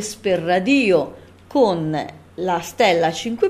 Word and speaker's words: EsperRadio: è per radio Ecco vi chiederete perché pronunciamo E per radio e non esperadio ad esempio e perché Perché Esper radio è l'unione di esperanto e radio cioè radio in esperanto tutte le parole sono delle parole Piane perché l'accento consiglio sempre sulla penultima vocale e per cui lo pronunciamo per forza è speradio quindi questo è il